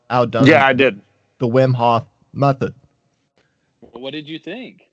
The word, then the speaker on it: Wim Hof: yes or no here we go the wim hof method yesterday so that yeah you're pronouncing it right you're saying it right yeah